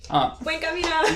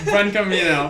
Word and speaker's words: Buen Camino: Buen Camino. Buen Camino.